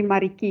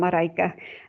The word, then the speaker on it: Marika: You can call me Mariki if you want to, even though I'm Marika.